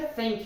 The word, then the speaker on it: thank: dentes e sobra tem muitas pessoas falam thank you com som de T mas o certo é thank you com o som do th que eu acabei de mostrar Tá ok eu tenho